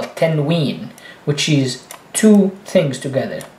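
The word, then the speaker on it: تنوين: And tanween, really what it means is making the N sound at the end, although there is no N.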